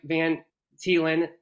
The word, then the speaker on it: Van Thiela: special guest on today his name is Mike Van telen forgive me if I said your name wrong Mike but right you did it right